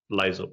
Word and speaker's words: Lyzr: Yeah, like analyzer, Lyzr.